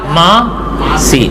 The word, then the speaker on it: ماسی: ذکر ملتا ہے کہ اصل میں یہ لفظ تو تھا ماسی، کثرت استعمال سے وہ نون غنہ گر گیا، ماسی. ورنہ اس کا پورا تلفظ پرانی کتابوں میں یہی ملتا ہے، کیا؟ ماں سی.